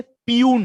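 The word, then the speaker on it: peon: जैसे पियून है, right? पियून हम लिखते पियून, it's called पियन, right?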